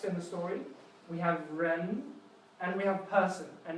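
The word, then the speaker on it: 人: This one means person, and it's pronounced ren, so you can see how there's a rising accent on this tone.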